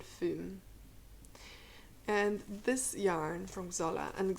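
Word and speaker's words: Xola: and this yarn from Zola and Zola is spelled with an X by the way x o l a let's see the they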